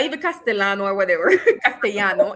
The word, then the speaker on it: castellano: Um, so yes, Shano, it's not even Castellano or whatever. Castano, it's cast because double L and Y in Spanish is automatically pronounced as sh, right?